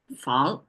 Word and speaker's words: 防: era characters and today's one is guard uh Fong okay so you can see simplify traditional they look the same it produ pronounce as fun um and the meaning even if I translate